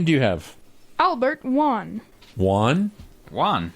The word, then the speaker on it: Wan: Albert Wan. Juan? Juan. How do you Juan. spell that?